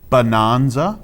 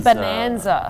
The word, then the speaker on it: Bananza: I I think that we should make an effort in Australia to pronounce it Donkey Kong. Bananza. Oh, I've been saying Bonanza. Bonanza because banan cuz cuz we would say cuz I would say I'm having a banana and so but